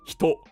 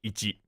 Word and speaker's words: 一: But when you write in the top one, it's pronounced hito, and then the bottom one is pronounced i. And also, it's also pronounced ichi.